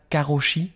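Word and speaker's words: 過労死: tu connais cette notion de, je crois qu'on prononce comme ça, karoshi, quelque chose comme ça, Violaine, et en fait,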